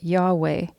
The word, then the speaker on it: Yahweh: in there to get yahweh presumably because we have a preference for vowels but scholars and rabbis have noted that the letters yhwh represent breathing sounds or aspirated consonants when pronounced without intervening vowels it actually sounds like